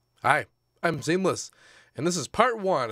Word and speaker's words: SeamlessR: Hi, I'm Seamless, and this is part one of the making of Steel Core, off of my last EP. The R is silent.